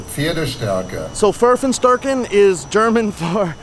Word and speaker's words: Pferdestärke: So it's Pferdestärken. Pferdestärke.